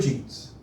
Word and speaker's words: Jean: say that in french in french it's pronounced jean jean so john and jean